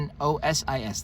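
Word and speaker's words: gnosis: n n n n n o s i s the g is silent means a belief that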